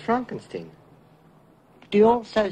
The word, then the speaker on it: Frankenstein: Frankenstein. Frankenstein. You're putting me on. No, it's pronounced Frankenstein.